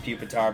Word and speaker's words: Pupitar: and a carvana huh i know it's pronounced pupitar but i'm always gonna call it poopatar well that carvana is